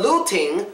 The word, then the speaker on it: looting: But looting follows this rule. Because the ing, we don't pronounce the G sound, it counts. Looting, two syllables. Last syllable, T-I-N. Tin, tin, get rid of the T.